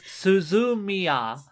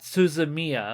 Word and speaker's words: Suzumiya: Because it's Suzumiya, not Suzumiya. Oh, right. Yeah, it would all have, like, that flat syllable sound to it. Yeah, they don't put emphasis on individual syllables in their words.